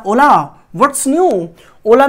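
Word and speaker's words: Hola: silent इसको ध्यान दीजिएगा ओला में क्या है एच साइलेंट और ये स्पेनिश है this is नॉट अ यू कैन से नॉट a Britain this is not from UK this is ओला व्ट्स न्यू ये क्या है स्पेनिश है और आजकल ये एनसीआर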